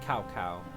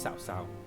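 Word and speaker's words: Cao Cao: it says it's a looks like cow cow you know that's how I only thought is pronounced but it's really pronounced south south so I'll be saying that even though it's spelled this way think about it like the silent sea Liu Bei Sun Jian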